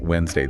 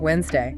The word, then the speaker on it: Wednesday: Another great one is Wednesday spelled out clearly, but we pronounce it Wednesday. The do just vanishes. Wednesday.